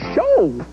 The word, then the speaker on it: show: Well, look at the word show. Show. Show. That's funny. The O and W in the word show team up for a long O sound.